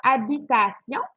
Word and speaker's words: habitation: Alors ici, tu as habitation, c'est un H qui est muet, donc tu peux faire l'illusion, ça deviendrait l'habitation.